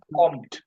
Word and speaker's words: kommt: Kateb Brahim, Comet House Algerian, Air কমেট না, Spaced, কমট, উচ্চারণ হলো কমট।